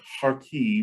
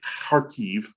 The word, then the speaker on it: Kharkiv: I know that in the news you'll have seen the city of Kharkiv, or sometimes it looks like Kharkiv, but Kharkiv is the right way to say it, Kharkiv.